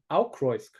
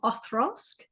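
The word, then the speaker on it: Auchroisk: Yeah, I pronounce it Aukroisk. Yeah, but someone like, I originally used to say Okrosk, but then someone told me it was like a TH kind of sound. It was Othrosk, like the ROI.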